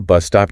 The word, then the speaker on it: bus stop: They ask, isn't there a bus stop near here? Which is a negative question, expecting a yes answer. Bus stop, another compound noun with stress on the first word.